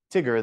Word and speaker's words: Tigger: reason for that is because it's TI G is the first syllable so it's a short I but TI and then g e r i is the final letter so it's going to say the long sound like tiger or lion right so you can't